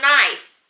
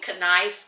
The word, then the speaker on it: knife: not Kenny it's me but like knife knife it is yeah I'm always saying conniff because this guy on